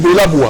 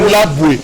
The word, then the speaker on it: Bolaboué: Vous dites Bolaboué. Non, c'est Bolaboué.